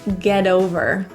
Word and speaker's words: get over: The T in get becomes a flap T because it's surrounded by vowels. So in this case, it's not pronounced as a T, more like a really quick D.